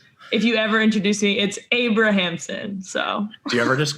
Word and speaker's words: Abrahamson: It's Abrahamson. So it's like you pronounce all the syllables. It's not Abramson.